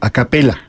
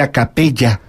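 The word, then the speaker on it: a cappella: a capella se escribe a capella y se pronuncia a capella porque es efectivamente doble l no es como ahora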